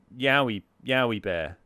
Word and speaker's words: Jowie Bear: Wheater, Ala Kandari, and Mazzarini making up the top 18, with Me Too Thanks and Jowie Bear just making it, creeping into the top 20. It's pronounced Yowie Bear.